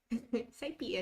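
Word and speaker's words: SciPy: that was pronounced um it's like how i pronounce numpy numpy saipy and numpy looking good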